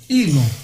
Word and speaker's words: Elon: ilon ilon a pronúncia ilon ilon um cidadão do mundo africano